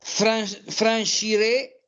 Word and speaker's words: franchirais: Je pense que si tu prenais un peu d'élan, tu franchirais cette hauteur facilement. Très bien, exact. Facilement. Hein, on ne prononce pas le T final.